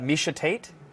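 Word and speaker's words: Miesha Tate: and it's part of the job and uh misha tate if you pronounced it wrong i would have loved that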